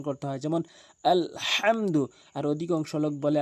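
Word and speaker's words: الحمد: বড় হাচ্ছে হলকের মাঝখান থেকে চাপ দিয়ে ভর দিয়ে শক্তি দিয়ে উচ্চারণ করতে হয়। যেমন আলহামদু। আর অধিকাংশ লোক বলে আলহামদু।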